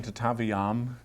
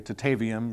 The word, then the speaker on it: Tataviam: Is that the correct pronunciation? Tatavam. Uh, I think most people around here, you know, not knowing any better, usually say Tatavium or I think Tatavium would be more accurate than Tatavium.